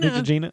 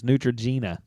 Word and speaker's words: Neutrogena: what is it called nutr is it nutr Nutrena yeah even the gallery says it's Neutrogena well whatever this stuff is it's like doesn't